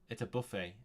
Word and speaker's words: buffet: It's a buffet. It's a buffet. Okay. It's interesting that Cantonese borrowed the American pronunciation, because we say buffet, but in the UK we say buffet.